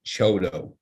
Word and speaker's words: CHDO: development organization the acronym chdo and it is pronounced choto uh this session will also let you understand